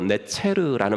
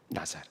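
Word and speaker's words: נֵצֶר: 왜냐하면 이사야서 11장 1절에 그 가지 나무에서 가지가 난다 그랬때 그 가지가 히브리어로 네체르라는 말인데 발음이 나자르라고도 발음이 돼요. 나자르.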